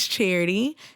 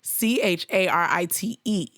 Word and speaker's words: Charite: So first, my name is Charite, Charite. I don't spell it with the Y, it's an E.